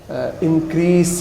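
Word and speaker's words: increase: ہمارے عام طور پہ انکریز بولا جاتا ہے، لیکن اس کا بھی درست تلفظ جو ہے وہ انکریز ہے، سین کے ساتھ ہے۔ یعنی کہ اس کے آخر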